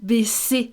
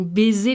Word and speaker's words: baisser: She's not pronouncing several words correctly. You know, apart from her accent again. Des yeux qui font baisser les miens, and not des yeux qui font baiser les miens.